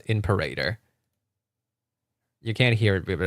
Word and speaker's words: Imperator: It's imperator. Like emperor.